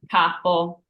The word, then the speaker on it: capo: So, for example, the word capo. So, capo means boss. And we have that tall ah here.